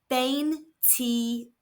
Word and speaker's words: veintiuno: This is pronounced bane t. Let's look at the pronunciation. V is making a B sound. The I's make an E sound and the U makes an oo sound.